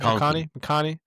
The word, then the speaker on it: McConkey: McConkey.